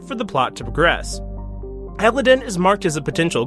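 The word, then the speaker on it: Eladeon: as color there is a desert world called elodin though it's spelled more like like Aladdin ironic I know it's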